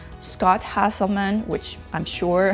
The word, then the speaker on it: Hanselman: man it's handsel minutes so I probably didn't pronounce his name correctly it's Hanselman and handsome minute podcast